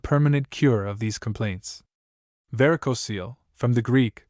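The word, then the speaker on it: varicocele: Varicosil from the Greek pronounced varicoso seal accent on either var or seal is a condition of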